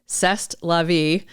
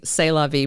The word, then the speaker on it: c'est la vie: The latest name they suggested was C'est la vie. I think they were mispronouncing it intentionally, c'est la vie properly, which if you know the phrase means that's life.